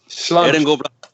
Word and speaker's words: sláinte: It's spelled Slainte. That's Gaelic, isn't it? Yeah. Yeah. All right. It's basically sláinte. And salud, and here's. I'll take it with my water. Well, sláinte.